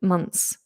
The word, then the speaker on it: months: is to try and pull the tongue as far back as possible so it doesn't go too far through the teeth. Months. Months. Months. So it's almost touching the back of the teeth to make the th.